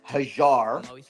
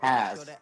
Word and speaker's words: Haz: Well, technically, my name is Hajar, Okay. but for all you English folks, we say Has.